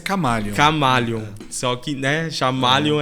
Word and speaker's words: Chamaleon: A pronúncia é Chamaleon.